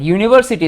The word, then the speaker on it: university: u which is vowel but university the pronunciation starts with y y whereas umbrella the pronunciation